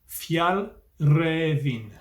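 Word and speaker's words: Fjällräven: the comments last week i think the correct pronunciation is fjallraven yeah check out jonathan's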